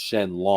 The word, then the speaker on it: Shenron: I mean, Shenron literally means, well, in Japanese it's Shenlong.